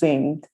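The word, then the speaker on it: Ziing: with double i so if you take z-i-i-n-g you pronounce zinged which is the product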